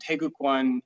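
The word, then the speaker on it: 태극권: I do different weapon arts and things like that, but within Tangsoo we have what's called Taegukkwon. And Taegukkwon is the Korean pronunciation of Taiji-Chuan. So I also teach Taegukkwon, but I try to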